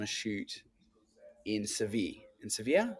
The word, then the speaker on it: Sevilla: And he was on a shoot in Sevi in Sevilla. Sevilla is how you pronounce it in in Spain.